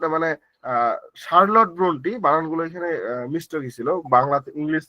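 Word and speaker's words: Charlotte Brontë: অধিকাংশ সুযোগ সুবিধা থেকে তারা বঞ্চিত হচ্ছিল তবুও চার্লট ব্রন্ট মানে শার্লট ব্রন্টি বানান গুলো এখানে মিস গেছিল বাংলা ইংলিশ থেকে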